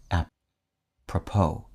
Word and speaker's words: apropos: From the French phrase apropos, meaning to the purpose, the word's emphasis lands on its last syllable, which ends in a silent S, apropos.